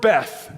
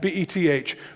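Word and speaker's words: בית: The word Bethel, the word Beth, B-E-T-H, really it's pronounced Hebrew bet, all right, bet.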